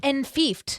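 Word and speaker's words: enfeoffed: Oh, it's enfiefed. Yeah, And like fiefdom.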